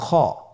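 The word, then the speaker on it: خاء: কিভাবে উচ্চারণ করতে হবে খ হরফটির মাখরাজ হল কন্ঠনালীর শেষ ভাগ হতে উচ্চারণ করতে হয়।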